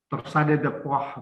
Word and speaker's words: Torsade de pointes: Nah, ada satu lagi yang saya juga harus perkenalkan, namanya Torsade de Pointes, ya. Torsade de Poix bacanya.